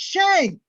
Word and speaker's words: Shang: It's Shang.